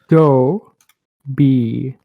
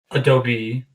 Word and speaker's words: Adobe: Adobe. Now that can but that's the American pronunciation.